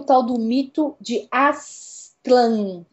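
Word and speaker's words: Aztlán: vamos voltar pros Aztecas Aslan é o lugar mítico da origem dos povos Aztecas em sua língua original que é o nahuat é difícil pronunciar isso porque é um TL mudo né a raiz de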